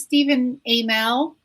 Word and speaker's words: Stephen Amell: creatures and stuff michelle says his name is stephen amell is that how i'm going to talk about